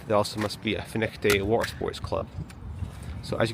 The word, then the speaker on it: Findochty: And there also must be a finick day water sports club. So, as you can see, um, fin is spelled with a f i n d o